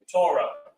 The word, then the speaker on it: Torah: again or in English it's Torah but it's pronounced ra Torah which means law but it also means orders